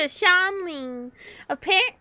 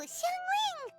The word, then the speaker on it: Xiangling: All thanks to Shanling. Or, I think that's how you pronounce her name? I forgot. Hold up. Sorry. I am not good at pronunciation. What the? Oh, Xiangling!